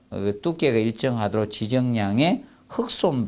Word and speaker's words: 흙손: 바 두께가 일정하도록 지정양식 흑손 발음한다 자 흑손 발음 흑손 여러분들 아시죠이 바르는 거 이렇게 생긴 거 그래서 이제 손잡이가 이렇게 달려서 위에서 이렇게 보면 옆에서 보면 되죠 이렇게 손잡이를 딱 잡고 이렇게 바르는게 있습니다 예이 흙손이라 합니다 흑손 발음으로 해 주시면 되겠고 그리고 뭐 마무리 작업에서